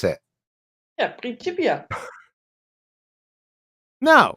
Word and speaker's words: Principia: It says it's a little bit off topic, QE, but how do I pronounce Principia? Oh yeah, it's Principia.